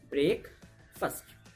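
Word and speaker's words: breakfast: है उसके vowel sound को हम नहीं पढ़ते हैं, उसको स्क्विज कर देते हैं, उसको रिमूव कर देते हैं और उसको हम कैसे पढ़ते हैं? ब्रेकफास्ट, ना कि ब्रेकफास्ट।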